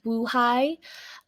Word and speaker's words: buhay: syllables have short vowels vowels are shortest when they immediately follow a glottal stop so buhay means alive to really emphasize the short vowel we can say buhay as opposed to Baha'i